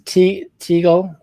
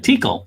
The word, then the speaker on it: Teakle: It's Teagle. How you say his name? Teagle. Right. There's a K in there, right? Teakle. So Teakle. Teakle is mentioned as a him.